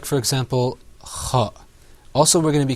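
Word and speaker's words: خَ: Like, for example, kha.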